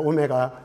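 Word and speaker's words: omega: 오메가. 여기다가 오메가로 이렇게 쓰면 돼요. w라고 읽으면 안 돼요. 오메가예요. 오메가.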